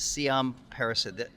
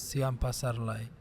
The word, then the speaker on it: Siam Pasarly: the the guess is C Paras I probably mispronounced your name you can call me c but the complete name is C Pasar got it and you're